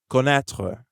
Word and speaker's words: connaître: The end of connaître sounds like the beginning of the word train. Connaître. Notice how there's no vowel sound at the end.